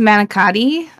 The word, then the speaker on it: manicotti: Alternative to manicotti.